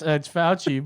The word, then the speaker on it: Fauci: Oh, it does his name rhyme with ouchie? Yeah. Yeah, Yeah, I think I know who it is. Ouchie? I keep forgetting it's Fauci, but I keep saying Fauco Marx.